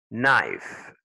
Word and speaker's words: knife: Knife, the K.